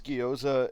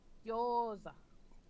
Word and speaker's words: gyoza: But I had 6 gyoza and almost a full thing of pineapple fried rice with marinated tofu. Living large. Oh, That's the good stuff. Gyoza. I love good gyoza.